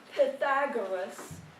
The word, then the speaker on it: Pythagoras: And this is how we pronounce them today in English. Thales, Pythagoras, Heraclitus, Democritus.